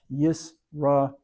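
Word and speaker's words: ישראל: Yo, here's a yod e into the sin, because the dot's on the left on this three-pronged letter, and there's a shava, so the first syllable is yis, then a rounded resh, half note a, aleph carrying the full note e into lamed, Yisrael, Israel.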